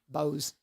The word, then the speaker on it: Boaz: see and I'm from Bo a z how do you say that Boaz said Boaz Bose Bose we say Bose yeah in the Bible I would say I would say Boaz from that and there